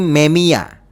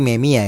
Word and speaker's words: Memija: Namanya adalah Kerim Memija, tapi dalam bahasa Bosnia ataupun bahasa Eropa, cara bacanya itu tadi gue chat GPT ya, bahasanya itu cara bacanya itu ya, yaitu adalah Kerim Memia. Kerim Memia ya teman-teman.